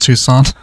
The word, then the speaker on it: Tucson: It's pronounced Tucson.